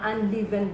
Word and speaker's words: unleavened: daw lahat ay mga unleavened bread. Ano ba ang unleavened bread? Leavened, sorry. Just Correct pronunciation, unleavened. Nabisaya ko doon, unleavened.